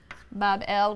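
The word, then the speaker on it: Bāb-ili: shrine or temple in Babylon pronounced Bob L which is simply a gateway of the God the gate of the god Babylon means the city that is the gateway of the gods and a big banquet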